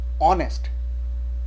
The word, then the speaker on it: honest: Next example is, this word is pronounced as honest.